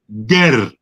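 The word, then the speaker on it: Geh: in that region was called Ger, G-E-H. That's how it was spelt. That's how more or less they pronounced it.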